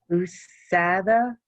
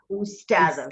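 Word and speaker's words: أستاذة: Usada? Or is it Ustada? Ustada. Very good.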